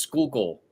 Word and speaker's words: Schuylkill: Sometimes people say Schuylkill, right? But it's kind of like there's a city in New Jersey called Secaucus, right? But sometimes people call it Secaucus, right? But it's pronounced Secaucus. So sometimes people call it Schuylkill, but it's pronounced Schuylkill. Schuylkill.